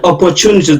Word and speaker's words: opportunities: এখানে অপরচুনিটিস দেখেন, আমি এই আরটা উচ্চারণ করছি না ব্রিটিশ ইংলিশে, রিসিভড প্রনাউন্সিয়েশন যেটাকে বলা হয় সেটাতে এই আরটা অনুচ্চারিত। আপনারা অক্সফোর্ড ডিকশনারি দেখে নিতে পারেন।